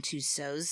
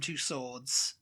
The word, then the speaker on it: Tussauds: And you pronounce it Tussauds. Tussauds. Tussauds. Tussauds, but we say Tussauds in America.